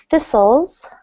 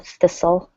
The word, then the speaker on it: thistle: this is called a thistle the T is silent in this word thistle so do not pronounce the T to sift is a